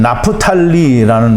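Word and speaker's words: נַפְתָּלִי: 납달리는 나프탈리라는 발음을 하는데요.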